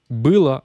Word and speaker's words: было: Было, alors là, il y a une petite erreur vis-à-vis de l'accent tonique. Il n'est pas sur le O. Je vais corriger cette horreur tout de suite. Il est sur le oui.